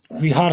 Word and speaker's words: बिहार: बुध यहां रहते थे इसको विहार व व व से पूर कहा जाता था विहार अंग्रेज इसका सही विचारण नहीं उच्चारण नहीं कर पाते थे वो बिहार बोल दिए इसका क्या बोल दिए बिहार तो लेकिन तुगलक वंश